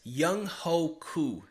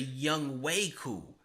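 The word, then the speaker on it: Younghoe Koo: if you didn't I announced Atlanta's kicker as young Hoku and that's not right I actually had a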